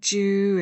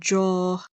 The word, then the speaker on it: Joo: Joo, and I know I've been saying Joo and Jaw. I think it's Joo. I looked up how to say it and I think it's Joo, but if I'm wrong, correct me.